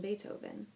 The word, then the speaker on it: Beethoven: started talking he mentioned Beethoven she had read in the library about that musician his name was pronounced with an A and spelled with a double e he was a German